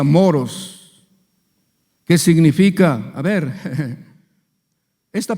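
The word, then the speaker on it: μωρός: necio esta palabra necio viene de una palabra griega que se pronuncia moros Qué significa a ver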